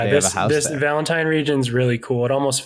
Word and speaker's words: Valentine: It's Valentine. I'm fairly certain that is the correct pronunciation.